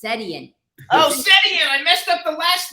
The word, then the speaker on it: Setian: show with Ryan Russell gato and Anna sushiyan how'd I do hi so he's got all the name is pronounced setian I messed up the last name okay that's